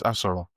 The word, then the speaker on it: Asoro: okay, pronounced like an Igbo boy. It's Asoro.